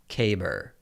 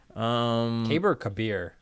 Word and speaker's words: Kabir: Pronounced Kaber. Nice. Kabir.